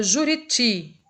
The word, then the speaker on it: Juriti: Então, na palavra Juriti, o ti, por ser o mais forte, então a gente classifica essa palavra como sendo oxítona.